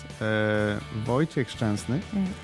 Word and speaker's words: Wojciech Szczęsny: but I think it's important to notice that Wojciech Szczęsny, which is the correct pronunciation, he's growing with every game.